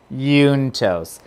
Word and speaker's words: juntos: we're gonna do it juntos juntos it's spelled with a j in case you wanted to know j-u-n-t-o-s yuntos okay ready christopher damn